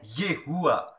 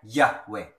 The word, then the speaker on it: Yahweh: youfuck ada yang membacanya Yehuwa ada yang membacanya yahwe yaitu Allah Bapa Yahweh itu Yesus adalah Kristus